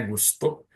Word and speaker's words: Gusto: Para falar agora com a pronúncia certa, né? Gusto.